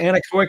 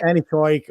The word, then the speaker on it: anechoic: itself exactly so i i may have misspelled it or mispronounced it i maybe have said uh any project or something like this but it's definitely anechoic chamber and yeah it comes from latin uh without echo so we are able